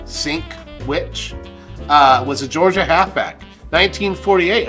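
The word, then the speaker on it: Sinkwich: I'm actually going to phonetically sound out his name. It's literally called Sink Witch.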